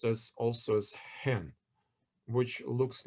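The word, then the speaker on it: ἕν: but uh because of the um pronunciation it's pronounced as also as hen which looks like a bird in English but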